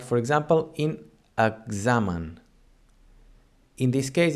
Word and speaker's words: examen: And the third sound of the X is like, for example, in examen. In this case, it doesn't sound as a KS, as in taxi. Instead, it sounds as a GZ, examen.